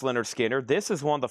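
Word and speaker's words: Lynyrd Skynyrd: Leonard Skard, pronounced Leonard Skinner.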